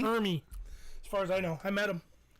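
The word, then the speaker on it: Ermey: And then he goes full on Arlie Armory from Saving Silverman. Snuff the bitch. How do you say it? I never say it right. Arlie Ermy, I think. Ermy? Ermy.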